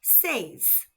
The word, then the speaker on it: seis: Six is s spelled S E I S and pronounced sees. Let's hear it again. Sees.